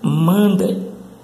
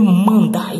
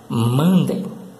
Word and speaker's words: Monday: A pronúncia certa é mandem, mandem.